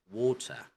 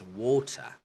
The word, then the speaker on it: water: Okay, so if you would notice, the letter T is clearly pronounced. Okay, it's water, water, not water. Okay, in American, it's water. The T kind of sounds like a letter D.